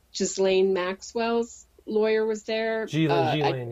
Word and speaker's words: Ghislaine: Ghislaine, yes. Ghislaine. S is silent.